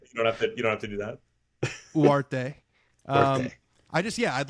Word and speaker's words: Ugarte: I hope they also play Ugarte it's apparently you don't pronounce the G, which is really tough for me.